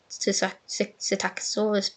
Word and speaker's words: Psittacosaurus: non-avian dinosaur genus, the Psittacosaurus is joining the roster in Jurassic World Evolution 3. So it means species-rich because the genus is Psittacosaurus. P is silent like Pteranodon.